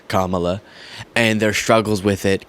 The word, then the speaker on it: Kamala: strange point but now there's one way to pronounce kamla Harris's first name it's kamla and their struggles with